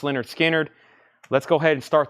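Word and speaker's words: Lynyrd Skynyrd: Pronounce Leonard Skinner.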